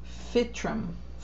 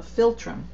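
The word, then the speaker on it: philtrum: This part of the body underneath the nose is called the fitum. Fitum. It doesn't have an L. No, filtrum. Filtrum. Sorry, I didn't see the L there.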